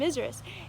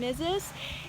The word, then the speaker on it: Mrs.: But anyway, so we were taught it's Mr. and Mizrus. And I found out from when I went to Tulsa, Oklahoma, that is definitely not how you pronunciate it. It is Mr. and Mrs. And so I know that is wrong, but there's times when I say Mr.